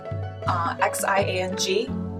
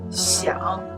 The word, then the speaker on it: Xiang: Or X-I-A-N-G. Xiang.